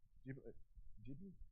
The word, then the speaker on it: Ghibli: Is it pronounced Studio Ghibli? Ghibli?